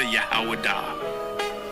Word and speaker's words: Judah: When I say Judah, Yahawadah. That is the ancient pronunciation of the word.